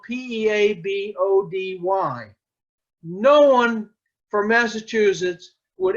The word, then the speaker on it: Peabody: Peabody Massachusetts now note that I pronounced that Peabody and it's spelled PE a B ody no one for Massachusetts would ever pronounce that Peabody isn't that right Don that is right it's